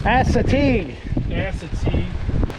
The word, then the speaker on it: Assateague: So there we were, enjoying a beautiful, sunny, amazing evening here at how do you pronounce this place? Assateague.